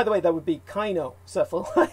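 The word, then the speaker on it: cynocephali: way that would be kainocephala it's pronounced that the c is actually pronounced as a k i i i didn't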